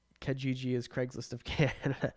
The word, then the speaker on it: Kijiji: So I have nightmares of Adam saying Kijiji is Craigslist of Canada. It's spelled with an I. It's 3 I's. Kijiji.